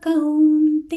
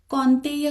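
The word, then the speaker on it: कौन्तेय: अभी भी बहुत लोग कौनतेय कह रहे हैं और मैं हमेशा ध्यान दिलाती ती हूं कि औ और इ आई इन दोनों का उच्चारण हमको ज्यादा डिस्टिंक्ट करना है संस्कृत में ते मामेव कते [गाना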